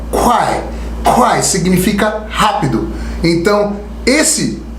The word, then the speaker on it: Kwai: Que a palavra do dia é Kwai.